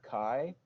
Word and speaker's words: CHI: your game wallet and just to recap the pronunciations I've learned for these are Kai and Xia Xia okay so Xia and Kai not Xia and Qi I've been told I